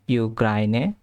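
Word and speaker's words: Ukraine: এখানে একটা জিনিস লক্ষ্য করতে হবে সেটা হচ্ছে যে ইউক্রেনকে এরা বলে ইউক্রাইনে আর এসেটটা এসে যেটা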